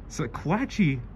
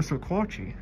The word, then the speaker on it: Sequatchie: Sequatchie for Sequatchie.